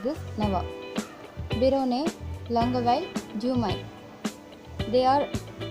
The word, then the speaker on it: Navarre: You should pronounce like this, Navarre.